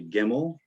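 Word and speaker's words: ג: going to be a gimel which kind of has a g sound and they have it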